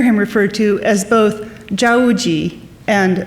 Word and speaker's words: Zao Wou-Ki: In Mandarin, Zao's family name is pronounced Zhao, and his given name, Wu-Ji. This is why you may hear him referred to as both Zhao Wu-Ji and Zao Wou-Ki.